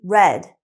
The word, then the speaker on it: read: It looks like read, but remember, we need to use the past participle of the verb, so it's actually read. Read and read are spelled the same.